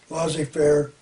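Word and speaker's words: laissez-faire: john meter keynes also wants to end the lazy fair loss affairs pronounced losses fair capitalist system why why would he want to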